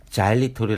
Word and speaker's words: xylitol: 드물다는 것이 다행이라면 다행입니다 보이시는 단어 xylitol 은 자일리톨이 라고 있는데 단어 맨 앞에 알파벳 x 는